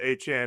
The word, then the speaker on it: Etienne: it's Travis Etienne now. That's how they like pronounce it and Jordan Tyson.